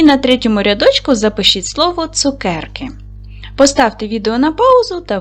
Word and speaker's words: цукерки: Ділимо на склади. Цукерки. Наголос падає на другий склад.